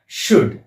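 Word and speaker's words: should: असेल तर L silent होत ते कस पहा शड आता शड याच्यामध्ये एस एच ओ य एलडी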